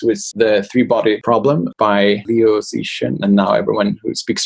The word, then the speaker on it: Liu Cixin: over the holidays was The Three-Body Problem by Liu Cixin. And now everyone who speaks Chinese is going to laugh at my pronunciation.